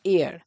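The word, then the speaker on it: heir: কথাটাই আমি উচ্চারণ করলাম এয়ার অর্থাৎ এইচটা কিন্তু সাইলেন্ট এর উচ্চারণটা ঠিক বাতাসের যে উচ্চারণটা হয় এর সিমিলার এর মানে হচ্ছে উত্তরাধিকারী।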